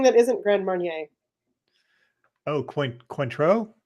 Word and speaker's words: Cointreau: Oh, Cointreau? Cointreau, yes.